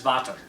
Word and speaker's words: Vater: It's pronounced Vater. What? Darth Father? Yeah. That's crap. So like if you knew German, but it's pronounced, they say their D's like T's, so it's Vater.